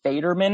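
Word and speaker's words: Faderman: I believe it's Federman is how you pronounce her last name.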